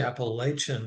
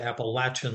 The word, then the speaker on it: Appalachian: So many people say Appalachian, which if you're a local, you would say Appalachian like a door latch.